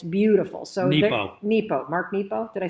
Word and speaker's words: Nepo: So Nepo. Mark Nepo. Did I say it wrong? Nemo.